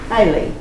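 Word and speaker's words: Beilly: It was directed by a Miss Carrie Hiley, B-E-I-L-L-Y, I think that's the way you pronounce it.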